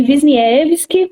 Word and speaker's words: Wisniewski: Então, meu nome é Wisniewski, né? Um pouquinho difícil de pronunciar mesmo.